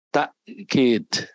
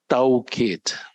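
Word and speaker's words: تأكيد: Bahasa Arabnya takkid. Tapi suka dipermudah orang membacanya taukid.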